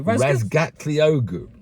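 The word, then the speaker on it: Razgatlıoğlu: Not, yeah, but you didn't say it right, did you? What did I say? Razgatliogu. Razgatliogu. No, that's how his friends say it. You put an S in the middle.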